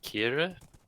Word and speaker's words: Kiara: Because of like it's spelled Kiara, but they seem to pronounce it Kira. Yeah. I don't really know what's going on with that. I think it's just certain syllables you say fast, like Kira.